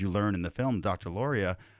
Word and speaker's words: Lauria: Angela Laura, it's Lauria. Lauria, I'm sorry.